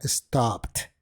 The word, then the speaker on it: stopped: P, que es voiceless, al agregar la terminación ed, esta sonaría como una T, que continúa siendo voiceless. Así que en lugar de stop it, la pronunciación correcta sería stopped.